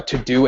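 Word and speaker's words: Teux Deux: for me like I have a um a to-do app that I use called um I don't know how to pronounce it but it's to do but it's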